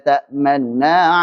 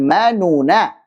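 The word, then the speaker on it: تَأْمَنَّا: Qalu ya abana ma laka la ta'manuna ala Yusuf. La ta'manuna ala Yusuf. Bukan manuna. Manuna salah, karena itu itmam.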